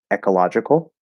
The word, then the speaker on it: ecological: Um, ecological. You could use e or but ecological or ecological, reducing it, I wouldn't do that.